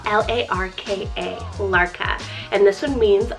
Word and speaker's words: Larka: We have the unique name Larka, spelled L-A-R-K-A, Larka.